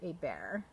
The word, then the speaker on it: Hebert: And for Be Joyful goes to Hebert, or Hebert, if you pronounce it the French way.